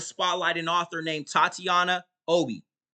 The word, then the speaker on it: Obey: I want to spotlight an author named Tatiana Obi. Her last name is spelled O-B-E-Y, like obey, but it's pronounced Obi.